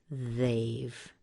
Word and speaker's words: they've: to be pronounced as they've they've it rhymes with let's say Dave but guys named Dave